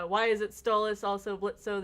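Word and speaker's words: Blitzø: is it stallis also blitzo the O is silent yeah I mean obviously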